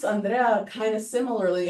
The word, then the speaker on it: Andrea: David Riess: They pronounce Andrea kind of similarly, except the R is a little different. Instead of a rolled, it's like a kind of J… Spanish J sound.